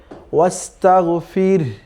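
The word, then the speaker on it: وَاسْتَغْفِرْ: ঠিক এরকম, ওয়াস্তাগফির, ওয়াস্তাগফির, যেহেতু রও সাকিন আছে, এরপরে এই হাটাও থামার কারণে সাকিন হয়ে যাবে, তখন সব মিলে উচ্চারণটা হবে ওয়াস্তাগফির, ফির, রও হবে, হালকা একটা এরকম সাউন্ড বের হবে, কেমন?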